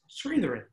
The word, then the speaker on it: Chris Sritharan: by side with my next guest who's chris sritharin and chris has been not bad huh i pronounced it pretty well i've been pronouncing it